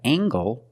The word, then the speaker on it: angle: We have angle, spelled L-E, making the nasal sound and the hard g.